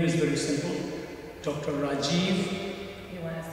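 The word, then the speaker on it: Rajeev: sure definitely the name is very simple Dr Rajiv you want to spell that r AJ e e v so name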